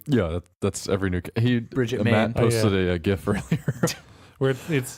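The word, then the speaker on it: Brigitte: I don't know why everyone keeps calling her bruschetta it's it's --brush eat it's Bridget yeah it's spelt Bridget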